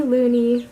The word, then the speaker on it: Luni: Luni spelled L-U-N-I, which does mean moon, but so does Luna, of course. But I kind of wanted them all to have an E sound at the end of their name, so I liked the name Luni for her.